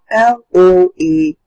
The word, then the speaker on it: loathe: In the second word on that line, which was the word I read, you have L-O-A-T-H-E, loathe. Now, as you can see, there was a V effect produced at the end of the word.